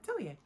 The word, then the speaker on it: Atelier: It's Red Tea Pot Atelier. Atelier. Yeah, I'm saying it right, Atelier.